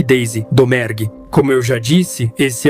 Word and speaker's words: Domergue: E assim, a francesa Domergue virou a mais espanhola Domingray.